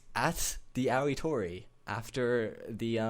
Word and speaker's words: TheAoitori: It's at the Aoitori after the spell it.